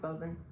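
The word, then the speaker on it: boatswain: Now, one of the most important positions on a ship was the Bozen, and it's spelled a little funny. It's not phonetic, but it's pronounced Bozen.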